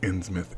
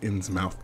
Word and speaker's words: Innsmouth: Innsmouth Academy I'm sorry innsmouth is pronounced innsmouth anybody who says ins mouth that has never been to Britain who noticed a pair